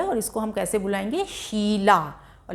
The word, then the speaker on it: शीला: शीला, शीला यानी बड़ी जो ई है वो देर तक उसकी ध्वनि निकल रही है।